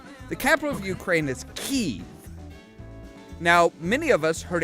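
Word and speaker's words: Kyiv: of us heard it kiev for the longest time that's the russian pronunciation that's not the ukrainian pronunciation in ukraine the word the that word would be pronounced key that's why everybody is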